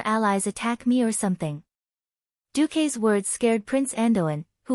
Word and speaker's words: Duque: In my hometown, the pronunciation of Duque is Duke. In the common language, it means Duke. One day Duque, the first Duke.